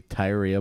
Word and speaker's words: Tyria: I bet it spelled like it looks like it rhymes with diarrhea. Tyra, a.k.a. Tyria Moore.